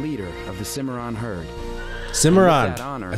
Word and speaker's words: Cimarron: Cimarron.